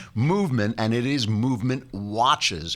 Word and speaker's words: MVMT: have them movement although they left out all the vowels for some reason it's mvmt and if we find the vowels we'll put them back but it's pronounced movement and it is movement